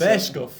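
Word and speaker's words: Burscough: It's Bearscough.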